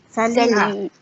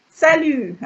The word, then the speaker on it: salut: Because they know each other well, they just say Salut. salut. Salut. Salut without the T. Only you have the T when you write it. If not, salut.